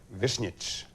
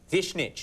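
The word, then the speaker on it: Višnjić: is it really in say what it would be in Croatian vnit vnit yeah that's well how what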